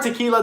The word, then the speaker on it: Tequila: from out and yes my name is pro uh pronounced as the drink okay so you are tequila okay cool uh